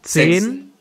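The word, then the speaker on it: siebzehn: Zibzen. Vamos a escuchar una vez más la pronunciación. 16. ¿Verdad como sech? Setsin. Escuchemos. Suena como una sech. Sech. Sech. Zen. Zibzen.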